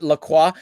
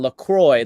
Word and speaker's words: LaCroix: i just learned that the proper way to pronounce that is lacroix is it not lacroix even though that's like closer to the french they had a whole commercial that was like a board meeting where they were like we don't know how to pronounce it and so they settled on lacroix like in joy so we you were